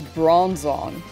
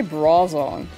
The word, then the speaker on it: Bronzong: read them correctly oh I never say brong right it's bronzong I always say brong like it's wearing a bra I need to I need to say bronzong that's one I need